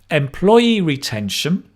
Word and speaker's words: employee retention: me employee retention good really listen to the stress that dum da da da da da dum employee